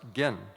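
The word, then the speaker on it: 幻: And by the way, this word huan in Japanese is pronounced gen, and you may be familiar if you know about the No drama.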